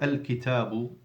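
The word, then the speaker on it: الكتاب: So like al-kitabu, you pronounce the lam of al-kitabu because the kaf is a moon letter, harfun qamariyun.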